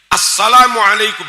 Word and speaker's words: Assalamualaikum: Itu al ketemu sin harusnya dibaca as. Innaka hamidum majid. Assalamualaikum.